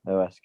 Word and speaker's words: Huesca: Is it Huesca? Yeah. Yeah, Huesca, yeah.